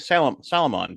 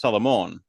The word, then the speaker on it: Salomon: So like Mariano he was pronouncing it Salomon because that's how you would look at it. But the Hispanic way of reading it is Salamon because that's how it that's how it should be.